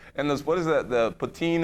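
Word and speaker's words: poutine: what is that the ptin it's called the the french fries with the official pronunciation is Putin Putin is the official pronunciation you can have some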